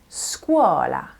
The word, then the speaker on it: scuola: Okay, so S can be pronounced as either a S or a Z sound. S or Z. For example, la scuola. La scuola. That is a soft S sound.